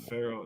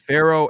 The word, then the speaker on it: Pharaoh: you're wrong yeah ashton it's it's it's pharaoh yeah pharaoh but it's spelled p-h-a-r-o-a-h so isn't it pharaoh pharaoh p-h-a o-a-h so if you look at like like the nah not like pharaoh not like pharaoh no it's not feral yeah it's not feral